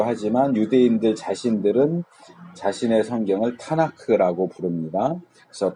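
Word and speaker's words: תנ״ך: 유대인들 자신들은 자신의 성경을 타나크라고 부릅니다. 그래서 토라와 네빔과 케투빔의 첫 글자를 따고 거기에 이제 아라는 발음을 넣어서, 자음만 있으면 발음하기가 힘들잖아요. 트느크 이렇게 하기도 힘들고, 그러니까 이제 타나크 이렇게 하는데, 타의 티, 나의 니은,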